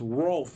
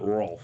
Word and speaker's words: Rolf: saw a comment that it's pronounced rolf and not ralph correct sometimes when you